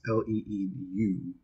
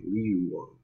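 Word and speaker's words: Van Leeuwen: I believe you pronounce it. It's Leeuwen. So I say Leeuwun.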